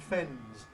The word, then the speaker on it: fens: So it's making the difference between fence and fens plural of fen. Yes.